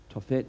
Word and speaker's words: Topheth: Tophet looks like Topheth, but it's pronounced Tophet.